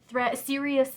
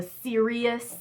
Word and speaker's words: Siri: the most was the Serious Threads. It's Siri is the blog writer on that one, S-I-R-I. So the Serious in Serious Threads is spelled S-I-R-I.